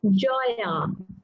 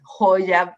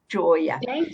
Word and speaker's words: Joya: We pronounce it as Joya. Joya, okay. You know, Joya in Spanish means jewel. And so I want to pronounce it Joya because of that, but it's Joya.